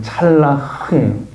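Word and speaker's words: צלח: 됐대요 형통이 단어가 성경 히브리어로 여기도 발음을 잘해야 되는데 찰라흐예요 찰라흐 이 형통이 단어가 찰라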